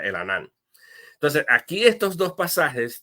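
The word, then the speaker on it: Elhanan: se llama el anan e e l h a n a n no lo s pronuncia el anan entonces aquí estos dos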